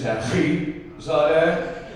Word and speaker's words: Taghizadeh: We use a lot of hard, like my last name is Taghizadeh. You gotta get that hard T in there, you know?